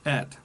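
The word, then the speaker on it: את: And the first 7 words of Genesis reveal the son as the word, the Aleph Ta, pronounced et.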